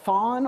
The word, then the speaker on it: thon: The very old neopronoun, thon, or some people pronounce it thun.